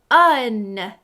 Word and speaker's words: one: Try this next word, one. Un. It sounds like a short U, but I noticed the letter O in this word.